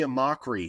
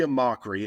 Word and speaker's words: Amachree: So Kory Amachree, I believe that's the pronunciation, Amachree there. Could be wrong though.